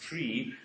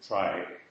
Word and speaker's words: trie: word the thing was coined to resemble the word retrieval and so it's supposed to be pronounced tree but of course that